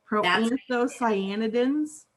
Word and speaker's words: proanthocyanidins: Tiffany, that name is proanthocyanidins. Proanthocyanidins? Yeah, proanthocyanidins. When you say it like that, that doesn't seem so difficult to pronounce.